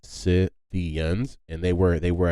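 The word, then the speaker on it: Scythians: y t h i a ANS but it's pronounced sians and they were they were a nomadic tribe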